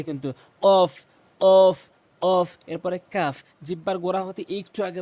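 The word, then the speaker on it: قاف: দাগগুলো নিচের ঠোটের পেটে রাখবেন ফা ফা এরপরে কফ কফ কফ এই কফটি মারাত্মক লেভেলের ভুল করে থাকে মানুষ একটি কফ জিহ্বার গোড়া উপরের তালু থেকে ধাক্কা দিয়ে কিন্তু কফ কফ কফ এরপরে কাফ জিহ্বার গোড়া হতে একটু আগে বাড়াইয়া কাফটি উচ্চারণ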